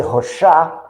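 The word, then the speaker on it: Rochas: Alberto de Rochat, é a pronúncia em francês, nasceu em 20 de maio, desencarnou em 2 de setembro de 14, na Primeira Guerra.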